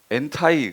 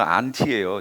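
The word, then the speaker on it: ἀντί: 그랬더니 어떤 분이 엔타이 그러셨잖아요. 영어 발음으로. 원 헬라어는 안티예요. 제가 헬라어로 발음한 거예요.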